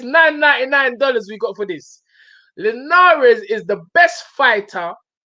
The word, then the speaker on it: Linares: we got for this linares is the best fighter hold on let me just say it properly this is from william haley 9.99 dallas leonares is the best fighter